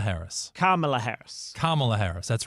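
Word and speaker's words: Kamala: you don't you put put the emphasis on the first syllable and not the second a lot of people have been calling her Camala Harris so inste it's carala Harris carala Harris carela Harris that's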